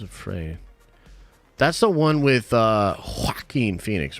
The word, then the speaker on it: Joaquin Phoenix: That's the one with Joaquin Phoenix, right? Joaquin Phoenix. I think that's what you got to pronounce it that way or you're doing it wrong.